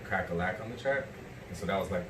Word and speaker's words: Cracka Lack: like, and I say my name, they're like, Crack-a-lack.